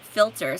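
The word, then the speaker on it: philter: like i would say you would pronounce it filter so instead of the f there's a ph i'll have to look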